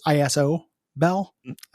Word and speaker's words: Isabel: Decker is named Isabel but it's ISO Bell spelled like an ISO uh gobit is a